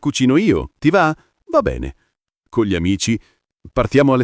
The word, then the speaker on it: va bene: Va bene. Pronuncia semplice, va bene con la e aperta in tutte e due le parole. Va bene, non v. La B è marcata, la na singola veloce.